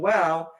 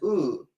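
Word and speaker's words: ו: There's only one exception to this rule and that is the conjunction wow which is sometimes pronounced as oo.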